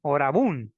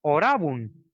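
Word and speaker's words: orabunt: Dicen orabun, dicen, ¿no? Y no se pronuncia orabun. El latín también es para conocerlo, es orabun, causas melius, ¿no? Orabun. La fuerza de voz va en la segunda, ra, ¿no? No en la un.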